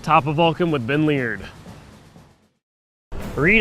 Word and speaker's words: Leard: Who's the best Auburn quarterback never to win a Heisman and who also has the last name that rhymes with weird? That would be myself, That's Ben it. Leard.